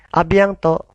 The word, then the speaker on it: à bientôt: Kemudian di bawahnya, nah, itu ada T-nya, awas, T-nya hilang ya, tidak dibaca. Bukan abientot, tapi abiento. Allez, répétez encore. A bientôt.